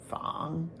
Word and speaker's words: 仿: On to third tone, Fang.